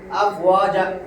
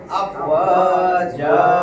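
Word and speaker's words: أَفْوَاجًا: আফওয়াজা না, আফওয়াজা।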